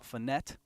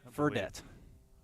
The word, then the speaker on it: Fredette: Number 28 on first is Liam Finette. I think Fredette. Fredette is how it's pronounced.